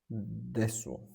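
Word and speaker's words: です: The pattern pattern wa a pattern A wa B desu. Okay. Wa pronounced wa. Okay. This is a particle that marks the topic. It acts like a pointing finger, same as for a. Desu pronounced des.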